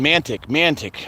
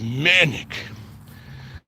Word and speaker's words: manic: of the cruiser because I was saying mantic. I don't know. I pronounce it a little differently. So the guy was mocking me and says, "It's manic. You got the mess."